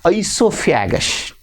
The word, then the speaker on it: oesophagus: That is called the esophagus. Esophagus. Spell the word OESOPHAGUS so nicely. Esophagus. It's most important, the pronunciation as well as the spelling.